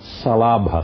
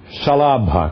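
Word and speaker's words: śalabha: Esse sh é aquele sh. Por isso, muitos livros escrevem salabra, salabrassana. Salabrassana. Porque é um é um sh difícil de pronunciar e que todo mundo confunde até na Índia.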